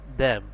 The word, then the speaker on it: them: আবার টিএসইএম দ্যাম। এখানেও টিএইচ এর উচ্চারণ দয়ের মতো হয়েছে।